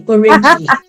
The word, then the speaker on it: Orieji: You're pronouncing it the French way, Orieji.